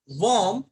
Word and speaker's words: warm: नाउ the third question is वॉर्म एंड वॉर्म. अब यहाँ पे स्टूडेंट्स दोनों का प्रोनाउंसिएशन लगभग एक जैसा ही है, but this is WARM, वार्म.